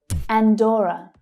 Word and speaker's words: Andorra: Andorra. Andorra. So that stressed syllable is O, as in door.